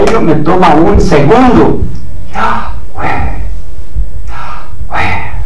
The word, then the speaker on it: Yahweh: Imposible de pronunciar en este estado, pero con la adhiriéndole la A de Adán y la E de Eva, es pronunciable Yahweh.